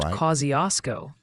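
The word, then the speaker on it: Kosciusko: ah you're talking about Kosco county in Indiana it's pronounced Kiosco funny how these place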